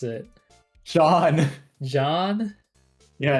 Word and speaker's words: Jean: You just have to say Gene. You are uncultured. That's crazy. Well, how do you pronounce it? John.